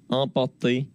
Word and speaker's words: emporté: Emporté. Le R de port, il est presque pas présent du tout. Moi, je l'entends très très peu.